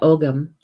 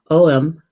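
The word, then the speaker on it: Ogham: There is a nut that has an ogum, not ogum, oem.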